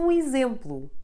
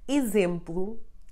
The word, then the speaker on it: exemplo: X is read like z whenever it is preceded by the letter E and followed by any vowel. It will be the first letter of a syllable, but having an E behind, forcing the sound of the X to become z. So words like exemplo, exercício, exame, or exausto are all read with the z sound.